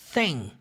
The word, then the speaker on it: thing: But the thing. Temos o som do TH duas vezes aqui. But the thing. Lembra o som do TH, aquele sonzinho na ponta da língua ali, ó.